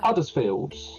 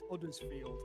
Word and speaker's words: Huddersfield: Huddersfield. Uttersfield number 66. I'm under the impression they don't pronounce the H up there. It's uddersfield I believe.